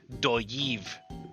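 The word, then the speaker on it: Dolliv: This is double L again, so this would be doyiv.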